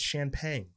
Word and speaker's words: Chanpheng: here we believe it's champ Pang the H is silent we believe uh Tom